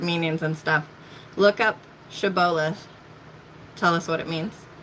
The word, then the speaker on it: Shibboleth: If he said no, then they would say to him, "Say now, Shibboleth." But he said, "Sibboleth," for he could not pronounce it correctly.